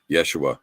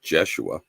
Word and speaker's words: Yeshua: udea there was yeah same with uh Yeshua wasn't it wasn't jeshua you know but and I'm